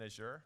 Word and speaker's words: Azure: Do you like how I am pronouncing Azure by the way? That's my European version.